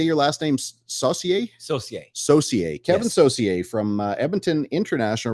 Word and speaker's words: Saucier: say you say your last name's Saucier associate socier Kevin Saucier from Edmonton International Raceway welcome Mr